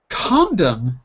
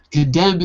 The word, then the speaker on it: condemn: in row c not condemn but condemn second good because condom is something entirely different condem is a verb condom is a noun condemn is what you do